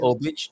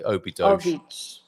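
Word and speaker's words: Óbidos: Do you say Obich rather than us foreigners who say Obidosh? Obich. Obich. And we need Antonio. Can you send me one of your recordings, Carl? The correct pronunciation of Obidosh is Obich.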